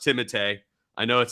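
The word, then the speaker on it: Timothée: good uh tim timotey chalamet and it is pronounced timothee i know it sounds pretentious as hell to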